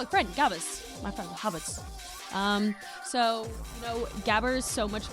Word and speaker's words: Gabber: So, Gabber, as the white people say it, or Haba is how you say it in German.